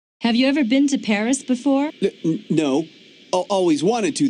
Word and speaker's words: Paris: of France live in Paris Wow so this is Paris I can't believe that I've never visited the capital of France before yeah well the locals pronounce it pari karremans conducted a lot